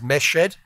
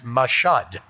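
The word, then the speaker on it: Mashhad: and the name of the city is sometimes referred to as meshed that was the name by which i always heard it referred to also referred to as mashad i learned recently that one pronunciation is turkish and one pronunciation is farsi this event march 19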